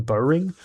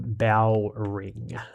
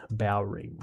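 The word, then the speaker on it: Bowring: He pronounced John's surname as Bow Ring as in Bow as in ships bow as did a couple of armor.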